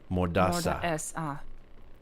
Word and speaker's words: Mordaça: C with the tail is pronounced as an S. Okay, so it's Mordaça.